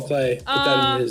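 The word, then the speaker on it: Klee: you take a turn is it clay i've been saying queen apparently it's cold clay huh this is a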